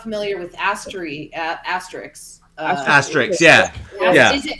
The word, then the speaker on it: Asterix: It might be a silent X. I don't know. I don't know. Because I don't want to say it wrong, but I've heard it pronounced both ways. I think they say the X. No, because it's Obelix. Really? Yeah, they say the Yeah. X. Asterix.